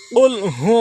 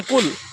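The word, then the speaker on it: قل: হবে প্রথম ভুলটা হল কুল কুল না বলে বলতে হবে কুল ধাক্কা দিয়ে বলতে হবে প্রথম দ্বিতীয় হল কহু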